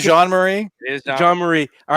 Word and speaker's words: Jean-Marie: so sam is it ryan john marie am i saying it right correctly i agree yeah bro it is jean-marie john marie all right